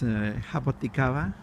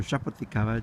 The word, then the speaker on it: jaboticaba: to the other ones, is jaboticaba, or jaboticaba, depending on the language you pronounce it in.